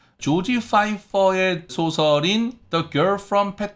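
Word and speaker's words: Pfeiffer: 유명하신 배우 분이 계신데 그 분 성이 유 앞쪽에 이제 피를 ph 를 쓰시는 그런 성을 쓰시 저래서 오른 것도 있는데요 그래서 요건은 파이퍼 라고 읽으시면 됩니다 안해서 잘 알아 드시구요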